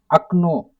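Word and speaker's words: окно: How to pronounce akno? Akno, right? Akno, akno.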